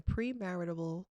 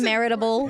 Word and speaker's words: premarital: Do you guys believe in premarital counseling? Did I say it correctly? I mean, Premarital. premarital counseling. Yeah. She said maritable.